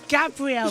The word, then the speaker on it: Gabriel: said it's e but it's not Gabriel it's Gabrielle bought a letter if you want to put it pronounced it properly it's Gabrielle bought a letter because he's he's um from Brazil so it's Gabrielle you got